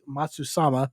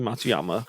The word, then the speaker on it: Matsuyama: Hiroshi Matsu sama. Give me that. I got it. I said it. You butchered it. Hiroshi Matsuyama.